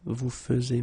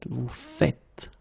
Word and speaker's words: faites: it like that and it's not vous faisiez but vous faites.